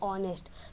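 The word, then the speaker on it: honest: ये तो है ऑनेस्ट लेकिन यहां पे जो साइलेंट है और यहां पे ओ से ये शुरू होता है इसकी उच्चारण ठीक है यानी ऑनेस्ट तो इसलिए ओस जो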